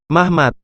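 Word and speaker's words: מחמד: temanku Hai puteri-puteri Yerusalem memang dalam bahasa Ibrani kata-katanya menarik diucapkan dengan lafal mahmad bukan berarti nama orang tetapi kata sifat dan untuk mengerti maksud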